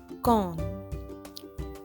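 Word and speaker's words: कौन: equivalent of the word who is gone it's pronounced as K plus o plus na con then friends the Hindi equivalent for the word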